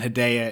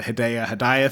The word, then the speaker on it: Hedaya: his office where Dan Hedaya is his boss, whose name I actually looked up how to pronounce, so I don't have to do the Hedaya thing the entire time. No, Hedaya.